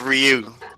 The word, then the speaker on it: Ryu: me oh and by the way Chef it's pronounced Ryu don't man we'll call him whatever the hell